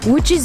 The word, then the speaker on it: Łódź: in the city of woods which is spelt LOD Zi but pronounced wood in Polish and it's just a